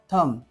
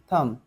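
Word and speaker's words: thumb: ठीक आहे नम नम या बी चा उच्चार झालेला नाही ठीक आहे थंब थंब बॉम बॉम क्लाई क्लाई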